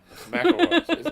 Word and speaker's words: McIlroy: Mroy, that's what that's how it's pronounced.